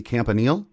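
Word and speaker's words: Campanile: defensive coach and I'm not sure how you pronounce is it Anthony Campanil?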